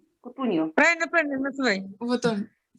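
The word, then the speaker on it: Cutugno: Как у него фамилия читается? Кутуньо.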